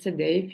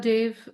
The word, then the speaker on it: Dave: welcome everyone I'm Dave uh my last name is pronounced like the way the way is say the way um but Dave is